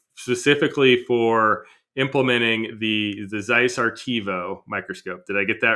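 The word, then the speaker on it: ARTEVO: um specifically specifically for implementing the the Zeiss artivo microscope did I get that right in terms of pronunciation correct awesome can you tell our listeners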